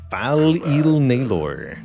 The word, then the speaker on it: Fal Il Naylor: Fal Il Naylor. Rhymes with Baylor.